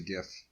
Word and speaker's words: GIF: should interchange format yeah we all know the actual pronunciation is J so please it's a